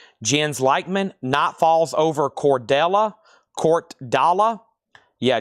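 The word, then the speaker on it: Jens Lekman: Let's do this other record that was asked about, and this name is pronounced Jens Lackman. Jens Leichman, Night Falls over Cordella.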